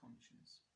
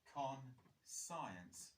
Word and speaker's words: conscience: What is the definition for conscience? This is a really cool spelling to learn because it kind of, when you look at it, it reads like this. Con-science, doesn't it? But it's pronounced conscience.